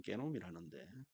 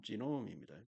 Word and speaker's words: genome: 자, 우리나라 말로는 게놈이라는데 유전자 총체를 말합니다. 편집되어진 유전자 총체, 영어 발음 지놈입니다.